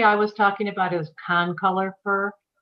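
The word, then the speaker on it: concolor: was talking about is Con color fur I think you said Conifer but it's con color F con color can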